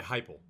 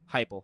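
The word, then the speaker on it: Heupel: I think Josh Hppel is over, that's how you pronounce it, right? Hufflep. Yeah, Hyple. Hyple, excuse me.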